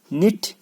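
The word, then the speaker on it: knit: निट, के silent.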